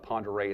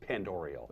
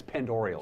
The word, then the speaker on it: Pend Oreille: You said Pend Oreille. It's pronounced Pend Oreille. Oh, I beg your pardon on that. People make that mistake all the time. Always make the mistake. Yeah, it's Pend Oreille County.